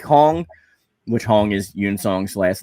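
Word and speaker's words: Yun-seong: huang and yang song were both cool characters yoon song that's pronounced yoon you're in song yeah you're in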